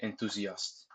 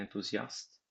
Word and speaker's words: enthousiaste: De mon matin, je pars en voyage, et je suis très enthousiaste. Much better. That rhythm was much smoother. Remember to pronounce the h in enthousiaste silently.